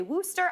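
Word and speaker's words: Worcestershire: Worsture. Worst. Worsture. Sometimes they say I said it wrong. We didn't want to say anything. It's also the like I heard people say Wooster.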